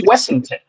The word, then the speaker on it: Washington: See, that name Washington and Washington was originally pronounced Wessington.